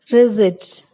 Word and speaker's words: receipt: P is silent in some common words also. Receipt, course, cupboard.